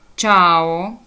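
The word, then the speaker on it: ciao: чи чинна чи чибо або коли вона Ось так з'єднується чи і а та тобто чи із двомами голосними чао чао Привіт та буде в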